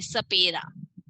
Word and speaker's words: सपेरा: स का उच्चारण कैसे करेंगे? दांतों से टच करते हुए, सपेरा।